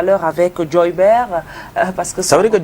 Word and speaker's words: Joybert: It's simple, it's just Joybert, as in Gilbert, as in Albert.